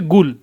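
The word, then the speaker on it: قل: একটা প্রধান বিষয় হচ্ছে তারা কফকে সর্বদা গাইন বলে কফকে কি বলে গাইন বলে যেরকম কুল কুল মানে হচ্ছে গিয়ে বল আমরা পড়েছি না কুলহু আল্লাহু আহাদ কুল মানে আপনি বলুন আল্লাহতালা এক এখানে সৌদিরা বলবে হচ্ছে গুল সৌদিরা বলে কি গুল তারপরে হচ্ছে আরো কিছু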